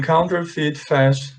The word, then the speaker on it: counterfeit: thousands of euros in counterfeit cash last year. A palavra counterfeit significa falso, tá? A mesma coisa que fake. A pronúncia dela é assim, ó. Counterfeit. Aqui tem som de I, tá?